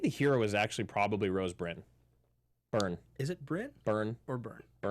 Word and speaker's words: Rose Byrne: I think the hero is actually probably Rose Byrne. Byrne. Is it Byrne? Byrne. Or Byrne? Byrne. Which one is it, Marissa? Rose Byrne, Rose Byrne.